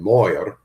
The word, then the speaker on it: Mayer: Well, I think Mayer is just more typical as far as the pronunciation is concerned, because there are other Meyers who spell it M-A-I-E-R or M-E-Y-E-R. Yeah. So Mayer just seems, and yet in German it would have been Moyer, and I guess that was the same for everybody.